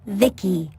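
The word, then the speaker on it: VICI: By the way, I'm V I C I pronounced Vicki.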